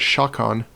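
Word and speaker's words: sceacan: So, for example, the word shakon, which means to shake, as you probably can recognize from how it sounds, it's spelled oftentimes like this, with an EA.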